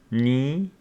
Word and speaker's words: knee: And this one, K before N, is not pronounced, knee, no, knowledge.